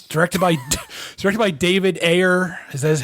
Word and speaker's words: Ayer: But, uh, Sabotage is, uh, It's directed by directed by David Ayer. Is that how you pronounce it?